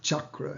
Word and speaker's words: chakra: with just the C-A-K-R-A, because the C has the cha sound in it. But in the chakra has already crept into the English language and with the CH, but it's chakra is how it's pronounced.